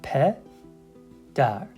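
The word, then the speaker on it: پدر: Pe, dar, pedar, pedar, pedar, which means father.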